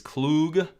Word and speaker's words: Klug: I saw someone saying, is it Klug, pronounced Klug or Klug or Klug? It's Klug.